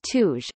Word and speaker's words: Tuzh: The Pahlavi pronunciation of Turaj is Tuj, according to the Dakota Dictionary.